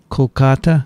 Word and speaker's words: Kolkata: had two visitors here today from calico calcutta kolkata kolkata yeah kolkata by the way he mentions